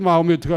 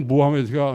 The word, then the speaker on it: 모하메트: 있는 것은 코란이라고 아니고 꾸란이라고 있는 것은 모하마드가 이게 또 마호메트가 아니고 모하메트가 이제 그 알라께서는 아랍어로 발음해야 좋아하신답니다.